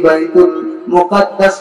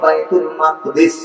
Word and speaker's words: বাইতুল মাকদিস: বছর পরে ফেরেশতাদের মাধ্যমে বাইতুল মুকাদ্দাস বা বাইতুল মাকদিস সঠিক উচ্চারণ হলো বাইতুল মাকদ্দিস আমরা বাইতুল মুকাদ্দাস বলি অসুবিধা নেই এই মসজিদুল আকসা বাইতুল্লাহ